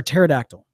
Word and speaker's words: pterodactyl: T-Rex or pterodactyl? Spelled with a P, apparently.